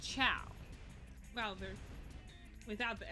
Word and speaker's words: Chao: at the time planet of the chalice because ciaos are spelled chaos but they're pronounced ciao well they're without the s it's ciao plural